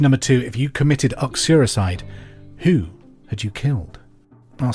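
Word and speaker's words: uxoricide: who so question number two if you committed oxuricide who had you killed I'll spell it for you you x-o-r-i-c-i-d-e acuricide question number three the city of Zurich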